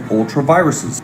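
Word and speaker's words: ultra vires: This is acting in ultraviruses. That is how it is pronounced.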